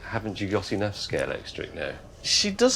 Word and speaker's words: Scalextric: And Scalex plus electric became Scalextric. And that's why nobody can pronounce it properly. Well, they all do it the wrong way around, yes. Everyone says Scalextrics.